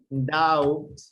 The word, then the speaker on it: doubt: Doubt, duda, right? Doubt, doubt. The B is silent, doubt.